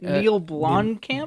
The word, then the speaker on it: Neil Blomkamp: Neil Blomkamp.